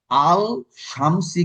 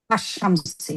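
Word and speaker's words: الشمس: আল শামসি কিন্তু পড়তে হয় কি আশ শামসি। আশ শামসু, আলটা পড়তে হয় না।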